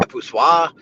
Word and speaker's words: poussoir: Like mono poussier, not poussier, but yeah, poussoir. I was close. Mono poussoir. I'm not that off, guys. I like poussier, but yeah, poussoir, poussier, whatever.